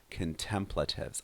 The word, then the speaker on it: contemplative: It's a countable word, so I can say contemplative, or in the plural, contemplatives. Also pay attention to the stress there, contemplative.